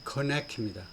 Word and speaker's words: Kornacki: 이 사람 이름은 스티브 코네키입니다.